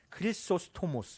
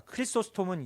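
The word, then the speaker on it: Χρυσόστομος: 크리스토모스 그러니까 크리스토스톰은 이제 영어고요. 크리스토모스 그니까 이제 그리스어 발음이죠.이 사람이 이렇게 말했답니다.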